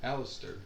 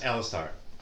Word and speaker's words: Alistar: please there's aatrox okay how do you say it alistair it's alistar um all right i